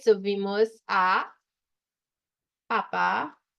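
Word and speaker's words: Papá: So vimos a Papa, accent on the second A, Noel, right?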